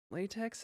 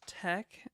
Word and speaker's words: LaTeX: out it was pronounced tech, I was applauded. Gosh. Yeah, some people pronounce latex.